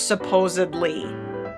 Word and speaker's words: supposedly: in past tense supposed when we add another suffix in this case ly it changes the whole pronunciation of the word so it is no longer supposed it's supposed then we have our ly verse supposedly she was supposedly going